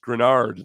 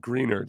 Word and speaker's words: Greenard: Except I feel like somebody did him wrong because at one point he says, "Texans fans, it's pronounced Grenard, not Greenard."